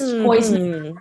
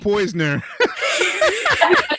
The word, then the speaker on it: Poyser: Now everybody says Poison. Who's that? God, don't do that. Can we discuss the actual pronunciation of his name, No, please? say Poisoner. I love when people put an N inside of his life.